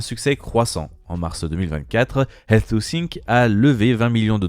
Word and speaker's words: Health2Sync: Pour Health2Sync, se prononce donc Health2Sync, c'est une start-up qui, quant à elle, propose une solution numérique pour les patients diabétiques.